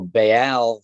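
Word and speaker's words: Ba'al: that's basically talented or ball bail right so bail for those who don't know what listen is it's spelled b a apostrophe a l this is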